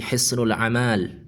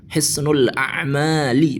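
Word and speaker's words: حصن الأعمال: Jadi Hisnul Amal salasatun, Hisnul Amal, padahal kata yang benar itu al-a'mal, Hisnul A'mali, begitu mestinya, bukan Hisnul Amal. Kalau dimufradkan ya jangan dibaca panjang mimnya.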